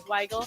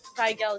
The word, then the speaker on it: Weigel: Like, so my dad was adopted by a German family, so that's why my last name is Weigel. But the American way to pronounce it is Weigel. Weigel? Weigel is how you really pronounce it.